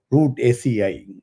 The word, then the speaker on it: Rutaceae: It's called root ACI. That's how it's pronounced. It's root root ACI. So it's RUTACEAE. So that's how it's pronounced, root ACI.